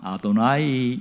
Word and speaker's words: 여호와: 하나님 이란 이름이 이제 여호와 잖아요 글자는 영호와 라고 쓰는데 절대로 발음을 하잖아요 2호 라고 말하면 큰 아는 거에요 친숙 모독 이야 뭐 어떻게 바람에 돼 글자는 여호와 라고 써놓고 발음은 아도나이 이릅니다 노라의 뜻은 주님이 든